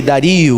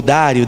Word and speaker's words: Dario: O rei Dario ou Dário, dependendo de como você pronuncia, resolveu dividir o reino em 120 províncias e nomeou um alto funcionário para governar cada uma delas.